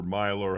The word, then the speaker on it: Mailer: Well, I've not seen Myler, however you pronounce Myler. it. It's spelled Mailer, but it's Myler.